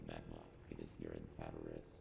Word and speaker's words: Cataris: It is here in Cataris. Cataris, got it.